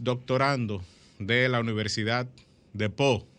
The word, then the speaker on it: Pau: de la universidad de pop se escribe pau porque se pronuncia pop del sur de francia